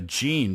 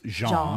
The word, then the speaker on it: Jean: his name before as Gan but of course a French name would be pronounced Jean right Jean Rene lacost a French